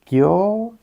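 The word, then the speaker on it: 郷愁: Và hai chữ kanji này đọc là "KYOUSHUU".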